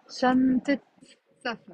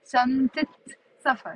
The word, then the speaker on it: شنطة سفر: Okay هيدي شو، هيدي شنطة سفر. Notice how I'm pronouncing the تي مربوطة. شنطة سفر.